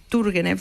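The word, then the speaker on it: Turguénev: ruso que llama IV tur turgenev turgenev se pronuncia que es amigote de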